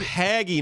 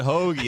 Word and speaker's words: hagiography: No, so the Oh, word haggy, not hoagie.